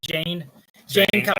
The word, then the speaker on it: Jayne: And then we have Jacob Cobb, or excuse me, Jane Cobb. I always got confused with that at first because he's the big tough dude, but his name is Jane. It's spelled Jayne. Cobb.